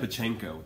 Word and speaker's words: Pacheco: Dan Pacheco. What's your preference? I really like Pacheco. Pacheco. Or Pacheco. Just like not it. Pacheco.